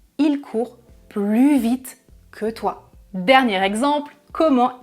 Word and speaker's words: plus: C'est un adverbe qui commence par une consonne, donc je ne prononce pas le S du mot plus. Il court plus vite que toi.